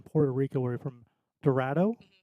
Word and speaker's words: Dorado: So I'm trying to say you've been helping me on how to say the town in Puerto Rico where you're from, Dorado? Dorado.